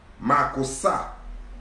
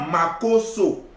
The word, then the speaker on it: Makossa: Makossa, est-ce que tu es là? Makossa, ça ne s'écrit pas Makosso. Makosso est différent de Makossa. Makosso est différent de Makossa. Le O et le A font la différence.